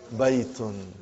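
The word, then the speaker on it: بيت: Now, normally, when you speak, you do not say baytun, you say hada bayt. Just like in Quran, when you stop, you give a sukoon.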